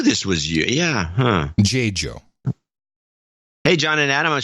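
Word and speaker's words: Dziadzio: It's spelled D-Z-I-A-D-Z-I-O, and the pronunciation is J-Jo. I think it would be J-Jo.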